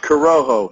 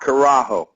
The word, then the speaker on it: Corojo: Pronounced Corojo, not Carajo. If you say Carajo in Spanish, it means hell.